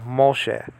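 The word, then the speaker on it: משה: this and that's a so you have mo shay now after that you have a hey but the hay is silent okay so the h can be silent okay in a hebrew word okay so you have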